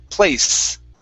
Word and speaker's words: place: this she okay so when we say the word place what you want to do with your tongue is pin it to the bottom of your teeth place okay and it curves up this way instead of curving your tongue this way so it's place try that way there